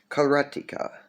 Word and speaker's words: Karateka: And well, karateka is how you pronounce it when you're referring to a student of karate.